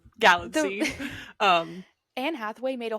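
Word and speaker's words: Galitzine: like a little song she's like oh Nick galline like magazine and that's the only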